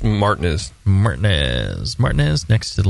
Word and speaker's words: Martinez: Street in Martinez Martin that's right it's it's pronounced Martinez Martinez Martinez next to the lovely Creek monkey